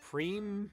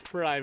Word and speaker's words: Prime: By the way, I think it's actually pronounced Preem, but it's Prime in English.